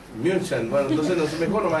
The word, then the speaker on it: München: ¿Cómo se pronuncia? München. ¿Eh? München. München.